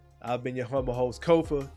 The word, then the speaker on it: Kofa: As always, once again, I've been your humble host, Kofa, Kofa, not coffee, not kufu, not Kofi, or any variation thereof. Kofa rhymes with sofa.